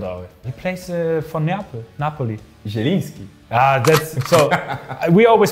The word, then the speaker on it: Zieliński: Like Zulinski. Yeah, it's difficult out. He plays for Napoli. Zieliński. That's so. We always pronounce it like a stanza, but I know it's so difficult to pronounce.